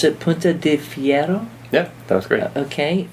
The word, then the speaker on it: Punta de Fierro: cidery and I'm going to learn how to pronounce it pun de Fiero yeah that was great okay from Patagonia Chile